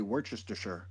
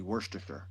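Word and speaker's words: Worcestershire: I'm the only in the world that know how to say Worchesterershure like the right way. And that's not how you supposed to say it. It's actually Worstershure.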